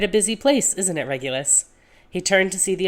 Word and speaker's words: Regulus: James and Real uh Regloose. Teaser ready. Regloo. Really? Before Regulus had finished processing the atrocious pronunciation of his name, James was at his side with two drinks.